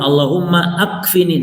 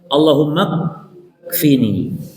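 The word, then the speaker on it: اللهم اكفني: Tapi bacanya itu di di di disambung ya. Allahumfini jangan Allahumma akfini gak. Allahummafini.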